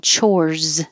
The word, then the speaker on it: chores: out like this one chores it looks like an s but it sounds like a z but if i say